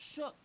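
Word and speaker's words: Shough: It's spelled Show. That man's last name is pronounced Shuck.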